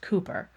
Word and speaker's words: Cowper: We know one of them William Cooper spelled C O W P R but pronounced Cooper.